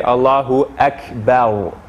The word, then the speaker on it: Allahu Akbar: before it we we our tongue wants to say akbar but the to perfect the pronunciation we would say allahu akbar so one more time